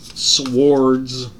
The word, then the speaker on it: swords: Swords. The W is silent.